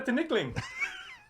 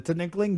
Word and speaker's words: tinikling: Jokester is doing the tinikling. Is that how you say it? Yeah. The tinikling, Joe?